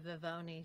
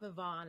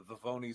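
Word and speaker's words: Vivone: I see their face when he says, you know, V-I-V-O-N-E, and it's not Vivonne and it's not Vivonne. My name don't rhyme with Al Capone.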